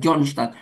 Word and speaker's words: John Stott: Tulisannya kan John Stott. dua kata, bacanya kan John Stott.